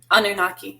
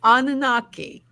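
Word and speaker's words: Anunnaki: talk about Trish how do you say nanaki anunaki anunaki thank you Trish we're yeah thank you because you know me with my pronunciations um yes we do yes we're gonna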